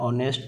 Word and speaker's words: honest: question number 31 देख आई cell be back in dash our तो आवर ऑनेस्ट तो एगुड़ा जी थी है HONEST ऑनेस्ट तो एच रिमेन साइलेंट आवर से भाया एच